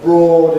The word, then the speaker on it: broad: But broad is one of the very few exceptions with o a spelling where the sound is or rather than def.